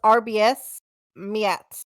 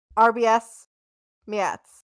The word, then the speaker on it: Arbeyes Meyats: letters r b um his name is rbs miat spelled arby's meets okay so that is what is on his driver's license it's arby's meets but he pronounces it rbs yes so we got